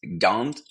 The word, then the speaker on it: Gand: name of gent uh which is pronounced Gant in French and in the native